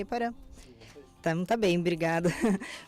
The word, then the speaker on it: Iporã: Está aqui conosco o Iporã Possante, assim pronuncia, Iporã?